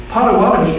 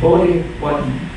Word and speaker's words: Potawatomi: Potawatomi is a mispronunciation of Bodhi-Wadden, which means the keepers of the fire.